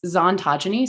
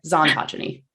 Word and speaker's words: Xontogeny: It's Xontogeny, so it's like ontogeny with a Z sound in front of it. Okay. It's a disaster, but Xontogeny.